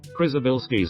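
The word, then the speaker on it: Przybylski: Oh, I don't how know how to pronounce that. Krisabilski star.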